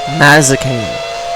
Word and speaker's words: Mazzacane: You're about 2 seconds ahead of Gaston Mazzacane. Mazzacane. That is how you say it.